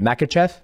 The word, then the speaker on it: Makhachev: How do you pronounce? I want to make sure I say your last name right. Makhachev.